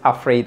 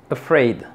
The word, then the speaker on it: afraid: aquí tenemos una Afraid no es Afraid es a Afraid Afraid Esta es la sílaba tónica afid y aquí tenemos el